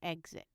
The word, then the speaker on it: exit: on what it's following, usually an E, a GS sound, as in exit.